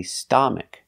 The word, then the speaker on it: stomach: correct to say stomach it's not ah like father it's not an a it's a short sound uh like cup and up and cut sta stomach stomach for the stress on the first syllable stomach stomach a closed sound a stomach for example